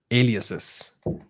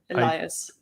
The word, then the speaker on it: alias: or an array of aliases and this time I say Alias right because yesterday I said it wrong again it's it's also Elias you know you can